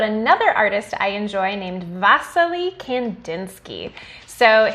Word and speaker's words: Wassily: artist i enjoy named vasily kandinsky so his name is spelled like wassily but it's pronounced vasily he was born in